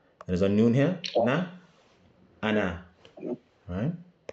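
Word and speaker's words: أنا: Ana. Alright. They said here, they put a little note here. Alif is silent. The reason why is because this alif here is for elongation purposes.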